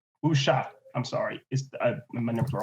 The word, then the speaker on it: Wuxia: How is that pronounced, Ari? Wuxia. Wuxia.